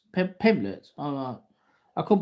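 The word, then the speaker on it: Pimblett: Is it Pimlet or Pamlet? Pimlet.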